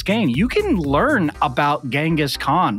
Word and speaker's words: Genghis Khan: You can learn about Genghis Khan or Genghis Khan, depending on your pronunciation.